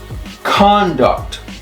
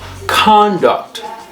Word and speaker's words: conduct: the fourth one um when it's a noun it's conduct conduct okay the stress is on the first syllable conduct now when it's a verb it's conduct see the difference conduct conduct now it's a